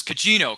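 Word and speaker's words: Gugino: was oh no it was oh it was Cino Carla Cino yeah that's how you say it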